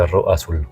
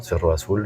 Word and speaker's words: Cerro Azul: À savoir le z se prononce s en espagnol. Alors, on dit sur Rasulou, je vais vous montrer bien sûr quelques vidéos ou photos de l'endroit Serge Roou.